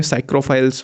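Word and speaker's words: psychrophiles: ठीक है, वो स्पेलिंग पी से स्टार्ट होती है पर उन्हें साइक्रोफाइल्स बोला जाता है, उसमें पी साइलेंट होता है।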